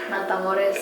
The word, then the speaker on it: Matamoros: I may have pronounced that wrong. Matamoros or whatever. Matamoros. Yeah, there you go.